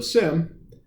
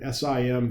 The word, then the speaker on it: SIEM: So, SIM, and that's how we pronounce it here, SIM, almost as if the E is silent, uh, is at its source a log monitoring technology.